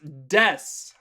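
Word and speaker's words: です: of like a verb notice how there's no oo it's not desu you can actually pronounce the ooh just like you can pronounce the masu but we never do almost so des this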